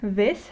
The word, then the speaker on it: vez: And you probably noticed that the way I read vez, so the Z in this word, is the same way that I pronounce the C in this word. And that goes back to our alphabet videos and the pronunciation of consonants videos, when we discussed that both of these, in some cases, or in most cases, they are pronounced the same way, and it is most similar to the English TH sound, so th.